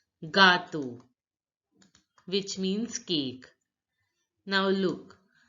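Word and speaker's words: gâteau: French J stands for gato gato which means cake now look the the acts the circumflex accent in a does not change the pronunciation the a sound is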